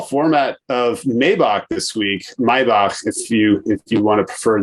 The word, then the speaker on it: Maybach: Maybach, if you want to prefer the correct pronunciation.